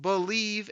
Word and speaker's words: BLEAV: It's called Believe in Lions, and that's spelled BLEAV on the Believe Podcasting Network with both myself and Lions legendary safety Benny Blades.